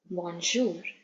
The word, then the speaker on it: bonjour: morning or good day in French it is bonjour bonj okay how do we say good evening good evening is usually after 5 P 5 p.m.